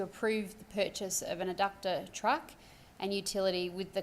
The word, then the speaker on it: Eductor: it in my head, trying to remember, was it adductor or eductor, but no, adductor, thank you. So this is basically a motion to approve the purchase of an adductor truck and utility with the cost of about $852,000.